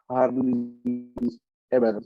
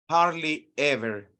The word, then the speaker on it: hardly ever: Pero hablando de sus ¿Cómo se pronuncia? Harley Ever. ¿Cómo se dice? hardly ever.